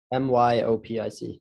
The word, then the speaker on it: myopic: say for me in english how do you spell it like that m-y-o-p-i-c not oh my myopic myopic how you say